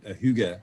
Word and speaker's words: hygge: I'd like to just congratulate you on uh pronouncing Huga Huga correctly I had to you said it